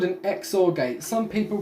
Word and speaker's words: XOR: that is technically the way you're supposed to pronounce it so this is an xor gate the way it works is the output